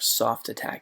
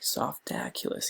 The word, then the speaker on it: Softaculous: to softaculous right here soft attac softaculous yeah that's it almost said it wrong okay so now this